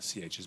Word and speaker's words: chi: letter looks kind of like an x it's pronounced chi if we spelled it out it'd be c-h-i where the c-h is making the sound chi chi squared so what